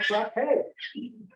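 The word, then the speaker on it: frappé: He needed to practice his Batman frappe, which is actually a thing. And it rhymes with ballet, which is kind of convenient.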